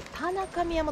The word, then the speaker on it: 太神山: 礼しました、63 座、田中宮山と読むんですね、これ、こちらを目指すと。